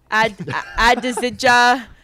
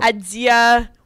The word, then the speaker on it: Adzija: No, there's a lot of silent letters in there.